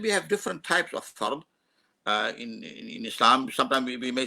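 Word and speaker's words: فرض: In Urdu we say farz because the dot is pronounced as a z in Urdu. We say farz, but in Arabic the word is fa, ra, and a dot, farz, and the plural of that is faraid.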